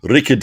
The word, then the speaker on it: Rickard: No, he's from South Africa, and the instruction given to me when I was trying to learn how to pronounce his name correctly was that I need to sound like I'm trying to start a lawnmower.